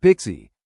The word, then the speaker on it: PKCE: The PKCE flow pronounced Pixie which stands for proof key for code exchange begins when a user wants to authenticate with an application.